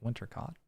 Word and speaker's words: Wintercott: Note, that's how you spell it, but the way she says it, it rhymes with hot, like Wintercott.